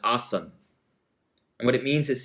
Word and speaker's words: asana: asana right your pose in sanskrit very often the last a of a word at least how it's spelt in you know sort of roman characters is muted and so traditionally asana is awesome and what it means